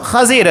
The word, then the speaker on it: خضر: چیزیں ایسی ہوتی ہیں، تو اصل تلفظ خضر ہے۔ خضر یہ شادابی اور